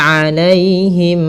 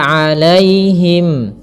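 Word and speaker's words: عليهم: An'amta 'alaihim. Kemudian pada lafal 'alaihim, di sini ada ya sukun yang didahului dengan fathah. Ini kita namakan dengan bacaan lin. Maka lembut dalam pelafalannya.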